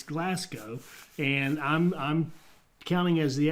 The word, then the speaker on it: Glasgow: how to say Glasgow and that's it it's Glasgow and I'm counting as the expert here our